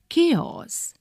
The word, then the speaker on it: chaos: during an earthquake chaos complete disorder or confusion pronounced chaos page 26 sanjie was a polican serving in